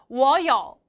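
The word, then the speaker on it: 我有: 전체 문장 연결 할게요 삼성이 연결될 때는 발음하기 너무 힘드니까 슉 올라가는 발음으로 우리 바꾸기로 했어요 참고하셔서 발음하시면 워요 빙 치린 그렇지 워요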